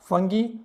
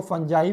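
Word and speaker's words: fungi: This is the first one इज algae, second one is bacteria, फंगी, कई लोग इसको फंजाई भी pronounce करते हैं, हमारे इंडिया में इसको फंगी ही बोलते हैं, फंगी।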